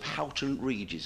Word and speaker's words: Houghton Regis: I'm back home in July to the sunny climes of Houghton Regis. Is that how you pronounce it?